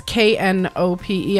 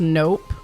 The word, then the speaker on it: Knope: I just realized that Mark's last name is not a silent K when you were saying his name. Oh, Knope? Yeah. So I didn't think about that. Yeah. It's Knope. I always thought it was just Nope.